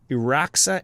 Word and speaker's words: Iraxa: I want to talk about Iraxa, Empress of Mars. Am I saying it right? Yes. Iraxa, Empress of Mars.